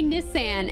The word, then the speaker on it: Nissan: Brits say Nissan, and they say Nike instead of Nike, and they say like Pista instead of Pista, and like there's what else do they say?